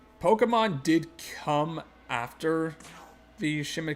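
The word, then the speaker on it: Pokémon: storied series known as Pokemon and yeah it's pronounced Pokemon I will I will rip you Destro like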